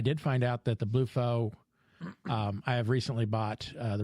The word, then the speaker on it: BluFo: Apparently it's Bluefo. Yeah, so BLUFO. Bluefo. Bluefo. But it's not blue, which is...